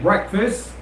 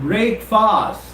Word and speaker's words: breakfast: talking about the first meal of the day breakfast in my previous life said you remember talking about the correct pronunciation of this word breakfast breakfast breakfast remember it's not break fast well it's right at the party saying break